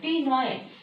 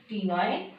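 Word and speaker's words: ctenoid: Second structure is the tenoid. C-T-E-N-O-I-D. Their pronunciation is the tenoid.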